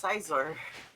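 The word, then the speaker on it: Scizor: No, it's like Scyther and Caesar. Yeah. No, it's Sizar.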